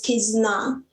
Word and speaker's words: Kizuna: The bound, pronounced as Kizuna in Japanese, means the united and the binding relationship among people.